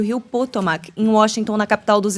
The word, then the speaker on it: Potomac: sobrevoava o rio potomac é assim a pronúncia potomac e se preparava para